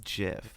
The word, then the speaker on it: GIF: GIF GIF conversation and my pronunciation is JF because it's correct it's what the Creator said it is like every argument